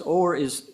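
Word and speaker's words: Horry: In my world, rural county, Ori County, Ho R Y, where do you get Orie County? But that's how the locals say it.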